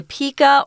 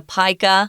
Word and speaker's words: pika: I didn't know existed called the Pika or the Pica you can pronounce it either way they these cats